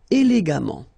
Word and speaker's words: élégamment: And the last example, élégant, élégamment. All right, so let's repeat them one more time. Patient, patiemment. Récent, récemment. Suffisant, suffisamment. Élégant, élégamment.